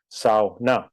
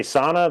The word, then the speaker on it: sauna: We always say sow, like the pig, and then na, sow, na. But they can say sauna.